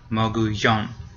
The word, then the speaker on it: mogollón: It has an accent mark. So it's the last one. Mogollón.